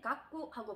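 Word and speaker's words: がく: 그 다음에 액이라고 발음을 할 때는 깍구하고 발음을 하시면 됩니다.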